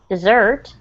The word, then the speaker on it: dessert: The other word, dessert, the emphasis is on the second syllable, like this, dessert, and if you notice, it has two S's.